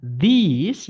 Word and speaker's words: these: Sedangkan these yang tulisannya pakai ini bacanya i ya, benda setelahnya wajib jamak.